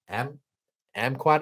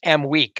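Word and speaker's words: Aimaq: But then you look at a guy like Fardaz Amquat. I'm going to mess that up. I believe it's Amweek, I believe is how it's pronounced.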